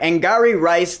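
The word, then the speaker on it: Angourie Rice: new movie I think it's okay all right angari rice that's how you pronounce her name she plays Katie you might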